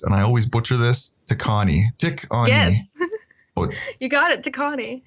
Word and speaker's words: Tikaani: today's guest is, and I always butcher this, Tikaani. Yes. You got it, Tikaani. Yeah. I got it right, Tikaani.